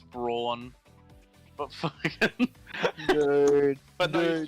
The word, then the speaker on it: Braun: They called him Reiner Brown, but it's Braun.